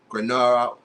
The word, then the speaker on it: Granada: Granada that's how you pronounce it. Granada, they lose 3-0 to Real Madrid.